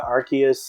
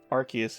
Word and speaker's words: Arceus: if you got our arceus in it it would say arceus or arseas it's like really wait